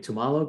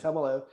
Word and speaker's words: Tumalo: think you're running the tamalo group is that yep i've got the group here sorry yeah that's all right you're not alone in fact more people pronounce it like that than tumalo so yeah right now